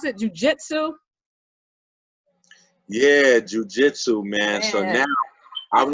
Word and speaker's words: jiu-jitsu: How do you pronounce it? Jiu-jitsu? Yeah, jujitsu, man.